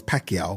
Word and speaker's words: Pacquiao: And obviously to see that we know Manny Pacquiao is Pacquiao.